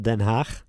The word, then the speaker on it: Den Haag: How do you pronounce it, The Hague? The Hague. It's called in the Netherlands. It's called Den Haag.